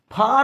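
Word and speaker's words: far: इस पे ये चर्चा करते हैं, फार और फर के लिए चर्चा करते हैं।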